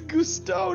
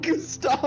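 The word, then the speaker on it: Gusteau: His name is Gusto, not Gustavo.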